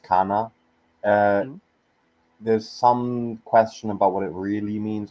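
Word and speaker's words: كان: speak about this one um Um, so it's pronounced kana.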